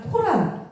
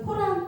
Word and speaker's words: 코란: 자, 코란 이것도 다 같은 건데 이건 영어식 발음, 서구식 발음이 그래서 코란이라고 합니다. 그래서 어떤데 꾸란 이렇게 얘기하는 데가 있고 어디에서 코란 이렇게 얘기하는 데가 있습니다.